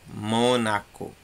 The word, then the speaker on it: Mônaco: O mó é a tônica, por isso que ele está lá em cima. Mônaco.